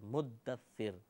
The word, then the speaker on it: مدثر: تشدید ختم کر دیتے ہیں، یہ غلط ہے، مدثر۔ اگر یہ ادائیگی میں دقت پیدا ہو تو